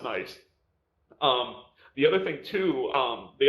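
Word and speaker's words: 9ice: There was another rapper named 9 Ice, which is it's the number 9 ICE, but it's pronounced Nice.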